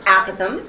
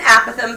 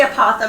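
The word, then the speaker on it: apothem: pronounce that word is aatham sounds like apathy which is a really depressing concept but it has nothing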